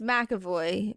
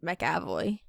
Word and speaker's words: McAvoy: It's it's Makavoy. But I said Mavoy. Yeah, it's Makavoy. I don't know where the A is in between the M and the C.